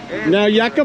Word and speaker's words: Nauyaca: tour guide michael right and the way you pronounce this correct me if i'm wrong now now yucca falls is where we're going and jeannie and